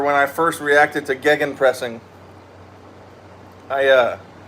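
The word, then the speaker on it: Gegenpressing: Anyway, the OG's on the channel will remember when I first reacted to gan pressing. I uh I mispronounced it gingen pressing for the entire reaction.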